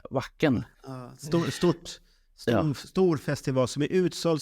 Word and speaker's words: Wacken: Jaha, det är som backen. Wacken.